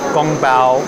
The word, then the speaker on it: 宫保: In the Wade-Giles system, gong bao is spelled like kung pao chicken. So that's surely where they got the name from.